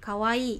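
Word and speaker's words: かわいい: Ini kalau lucu imut ini disebutnya atau dalam bahasa Jepangnya ini kawaii gitu. Nah i-nya dipanjangkan ya minasang jadi kawaii gitu.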